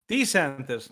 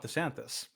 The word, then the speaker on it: DeSantis: I'm Ron DeSantis, and I'm running for president to lead our great American comeback. By the way, that's Ron DeSantis, not DeSantis. We've been saying it wrong this whole time.